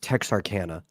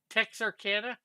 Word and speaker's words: Texarkana: Rick, it's pronounced Texarkana. Texarkana. Yes, it's on the border of Texas and Arkansas.